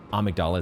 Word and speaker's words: Amygdala: The jumping R2, I think, would just get headshot after headshot against Amygdala, or Amygdala, but, you know, Amygdala is how it's said in the game.